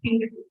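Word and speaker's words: HindIII: See, many people pronounce it in a very different way. I prefer hind. I don't know. It's easy to say.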